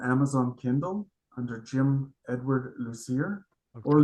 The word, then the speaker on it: Lucier: Kindle under Jim Edward Lucier or Lucier. Depends on if you're French or not. In French, it's it's pronounced Lucier.